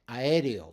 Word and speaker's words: aéreo: You break them, like aéreo, right? Aéreo. Those are all separate syllables.